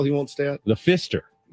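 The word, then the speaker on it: Pfister: won't stay at the Fister it's with a p silent p is silent woods it's not the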